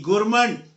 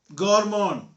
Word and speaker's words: gourmand: गुरमंड, GOURMAND, गुरमंड। गॉरमोंड, गुरमंड बोल लो, सही pronunciation है गॉरमोंड।